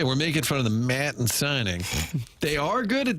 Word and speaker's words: Maton: Maton, pronounced M-A-Y. Doug, that's in caps to convey the pronunciation, and then the dash with T-A-H-N. Maton.